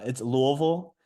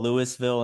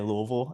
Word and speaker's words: Louisville: Um sorry, can I just ask how do you pronounce it? Um it's Louisville. I know people say like Louisville, Lewisville and stuff like that, but if you're from Louisville, people say Louisville and so that's how you know you're not